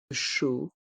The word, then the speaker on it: chaud: de chocolat est mué le dé de chaud est muet chaud un chocolat chaud un